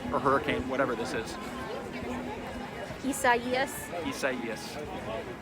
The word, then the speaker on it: Isaias: Isaias. Isaias. I keep wanting to call it Isaias. That's what I thought it was when I first saw it written out, but it's pronounced Isaias.